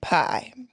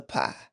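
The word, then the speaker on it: Phy: It's spelled P H Y but pronounced P I E.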